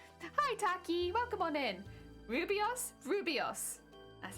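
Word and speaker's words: rooibos: It's best just to listen to her pronounce it. Rubios.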